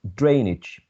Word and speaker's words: drainage: you can see that the primary stress is on the first syllable drainage and even if we